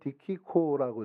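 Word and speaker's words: Τυχικός: 오늘 저희가 좀 살펴볼 사람이 두기고인데, 이름은 뭐 두기고라고 저 한글로 돼 있지만 실제 발음은 디키코라고 이렇게 씁니다.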